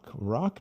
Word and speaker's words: rock: E quando nós escrevemos com o nosso guia, aí rock, geralmente eu coloco com asterisco para lembrar todos os alunos de que esse R não é H, é R, rock, rock.